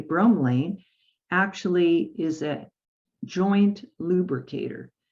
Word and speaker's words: bromelain: But bromelain, or bromelain, let me say it correctly, bromelain actually is a joint lubricator.